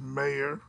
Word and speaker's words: Mayer: And Oscar Mayer, and now it's not Meye or Ma, which is I think pronounced mayor.